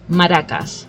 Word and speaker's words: Maracas: pronounce it exactly how a Spanish person will pronounce it just like I have an accent when I speak so yes it's Maracas which is you know Trinity Maracas but exactly